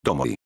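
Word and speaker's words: domoj: queremos hacer plural ponemos tomoi y aquí también hay algo interesante ya que la J se pronuncia como una I latina refácil no lo creen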